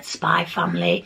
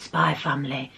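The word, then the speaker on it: Spy × Family: I call it Spyfamily. I know there's an X there, but I don't pronounce the X.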